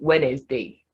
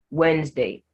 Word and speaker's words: Wednesday: words wednesday in wednesday the first d is silent while the second e is selling this is where it has just two syllables so don't say wednesday just say wednesday handsome grandmother hank the